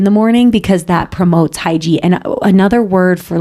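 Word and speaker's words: hygge: a book in the morning because that promotes hyi and another word for like hyi I think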